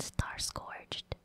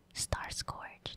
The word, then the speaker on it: Starscourge: his name is called star scorched star scourge that's how you say it he turns into